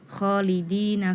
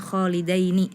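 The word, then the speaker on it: خالدين: kemudian di ayat ke-10 kholidina fiha tadi dibacanya kholidaini memang itu hampir sama di surah Al Hasyr kalau surah alhasyr kholidaini dia memang berharakat fathah Tapi kalau ini di surah attagabun kholidina bukan kholidaini kemudian di surah attalaq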